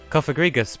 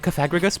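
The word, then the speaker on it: Cofagrigus: to say no that that that's coffee grigas but wait though i always pronounced it cathagus but then that's why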